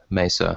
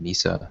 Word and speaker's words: mesa: i have been mispronouncing i have been incorrectly pronouncing uh mesa i've been saying misa it's some sort of